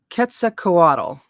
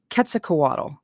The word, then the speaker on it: Quetzalcoatl: Quetzalcoatl. I think that's how Steve's was showing me with his letters that that's how you say it. Quetzalcoatl.